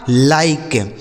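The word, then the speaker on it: like: एल आई के ई इसे पढ़ा जाएगा लाइक। एल आई के ई लाइक। जी आई वी ई गिव देख रहे हैं ना कहीं भी इ का उच्चारण नहीं हो रहा है इसलिए पढ़ा जाएगा गिव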